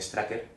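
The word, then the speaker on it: Strucker: de hidra aquí es el barón straker o estruch que depende de como lo quieras pronunciar que es un personaje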